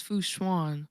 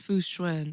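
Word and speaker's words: Fu Xuan: from that live stream I originally thought it was fwan but apparently it's fwin and I'm like wow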